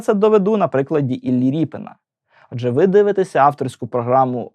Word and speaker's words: Ріпин: роту ріпи тому і записують його прізвище як ріпен через ядь однак російською мовою Воно читається як Репін і тому навіть у